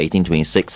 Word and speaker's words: 1826: So it's 1826, is that how we're pronouncing it? 1826, Okay, that's right.